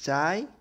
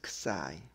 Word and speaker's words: xi: This Greek letter is pronounced as sometimes xi or sometimes xi. Anything is okay.